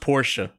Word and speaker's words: Porsche: driving through here then that straight dirty it's pronounced Porsche congratulations oh my God he what oh rip